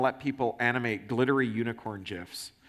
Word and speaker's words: GIF: You might make a social media service, and you might want to let people animate glittery unicorn GIFs. It is pronounced GIF, at the top of their page.